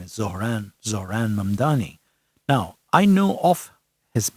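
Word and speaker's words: Zohran Mamdani: very complicated for a lot of people to pronounce Mdani his name is Zoran Zoran Mamani now I know of his mother who is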